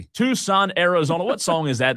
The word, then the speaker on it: Tucson: Is that pronounced Tuxon Tuxon?" You have your Tuxon. Tuxon A. Tucson, Arizona.